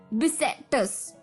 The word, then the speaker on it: bissextus: तो ये fourth word है बिसेक्टस।